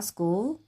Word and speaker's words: school: school. 네. 이렇게 쓰시면 됩니다. 이때 CH가 예외적으로 크라고 소리가 나죠.